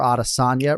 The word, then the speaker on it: Adesanya: conversation today because yes you can go audition or adasanya right but the one thing you cannot do is have the H sound I'm not talking to